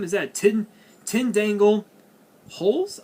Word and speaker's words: Dangle Holes: we have 10 angle d-holes what the hell what the kind of name is that tin tin dangle holes i think i i think the d is silent so it's holes which is a five-star